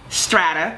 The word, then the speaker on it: Strata: does strata even mean how do you say it is it strata is it strata is it strata it is strata that's how i say it but you can say it how you know whatever however it flows